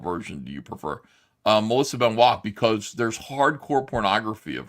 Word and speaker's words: Benoist: It's Benoist, it's pronounced.